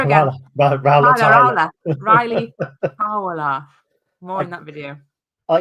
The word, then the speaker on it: Towler: There's more on that in the signing of I said Tyler again. Ryley Towler. More in that video. I used to have problems pronouncing the likes of Dan and Lundalu, but Ryley Towler.